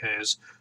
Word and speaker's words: Reis: against Wilson Hayes so I believe how they say it I say ray as they say has because what the the way they say you know Portuguese I believe it is I could be wrong but anyways so this